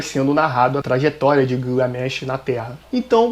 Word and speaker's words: Gilgamesh: O Épico de Gilgamesh, ou Bilgamesh, ou Gilgamesh, que seria a pronúncia em português.